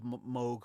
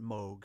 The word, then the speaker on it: Moog: guess they I found an interview with Bob Moog who founded the Moog synthesizer company and everything